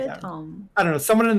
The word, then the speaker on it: Temps: the P is silent. The P and the S are silent. Tom, like Tom. like the person Tom.